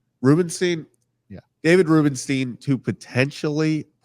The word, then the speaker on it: Rubenstein: Rubenstein.